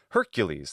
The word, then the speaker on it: Hercules: When we have that long S as an ending in Latin, frequently we make that ease in English, right? So, Hercules, that makes sense as a pronunciation.